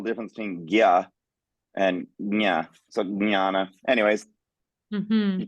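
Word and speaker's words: ज्ञ: It can also be jna if that works better, that JN. I actually pronounce it to differentiate it between gya, which is GY, you'll see written. I actually say nya. So there's actually a g and a ya.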